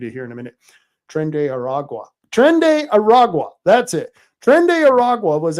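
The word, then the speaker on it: Tren de Aragua: we were talking about crime and how the Trende de Gua, yeah, I can't pronounce it. I'll have a story on it in a minute. We'll read it here in a minute. Trende Aragua.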